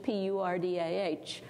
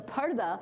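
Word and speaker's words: پردہ: It's like the word people use in English, P-U-R-D-A-H, which they pronounce purda sometimes, but it's parda, it means being in a curtain or being behind a curtain.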